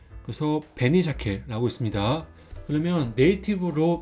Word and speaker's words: 紅鮭: 그래서 베니샤케라고 있습니다. 그러면 네이티브로 발음으로 2번 따라 읽어주세요.